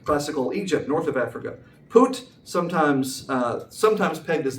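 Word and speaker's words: Phut: And the sons of Ham, Kush, Misraam, and Poot, and Canaan. Yes, that is you pronounce it. P H U T is pronounced P, not P. Put you got to say it like that.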